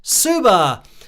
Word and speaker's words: Suba: The message is celebrating 287,000 subscribers from Suba, pronounced Suba. So I actually said it correctly.